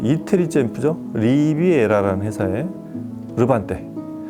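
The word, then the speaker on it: Levante: 이태리 챔프죠 리비에라라는 회사에 르반떼 원래 이태리 발음 르반떼라고 하는데 이제 국내에서 이제 수입 학원 유통하는 분들은 한글로 이름표기를 하다 보면 우리나라 맞는 발음을 해야 돼서 레반떼라고 이렇게 이름을 부르고 있습니다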